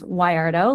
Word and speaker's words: Wardo: Um, the best way to remember how to pronounce my last name is Wardo, like why are those plates in the sink.